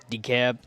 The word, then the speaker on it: DeKalb: Well, let's pronounce their name right first. My bad. DeKalb.